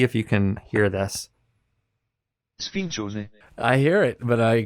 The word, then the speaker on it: Sfincione: I pulled up how to pronounce, and I'll see if you can hear this. Sfincione. I hear it, but I can't repeat it. Sfincione.